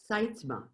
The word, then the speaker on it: Sytsma: And Cindy, your last name is pronounced? Sytsma. Sytsma.